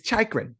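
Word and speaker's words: Chychrun: can also already hear all the long Islanders mispronouncing his name yeah oh yeah come on it's chakra it's chakra yeah sure whatever you say all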